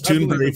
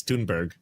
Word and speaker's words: Thunberg: I thought it was Tunbury for so long because of how Amy Goodman pronounces it and then I Yeah, I heard her interview her on the flotilla and she's like, "It's Tunberg and it's it's Tunber there."